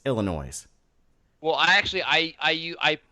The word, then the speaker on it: Illinois: this state look foolish there is no such thing as a silent s illinoisians it's Illinois well I actually I